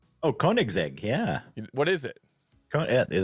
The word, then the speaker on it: Koenigsegg: Oh, Koenigsegg, yeah.